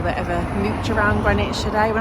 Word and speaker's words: Greenwich: in Greenwich today in London so it's actually spelled like green witch um but you pronounce it grenwich so we came yesterday to see Santa at